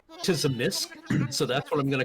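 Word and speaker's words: Tzimisce: So the accepted pronunciation is Zamisi, but everybody has their own pronunciations. There is no official pronunciation.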